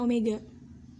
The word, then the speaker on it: omega: kita misalnya pakai comega jadi w ini dibacanya omega itu akan setara sama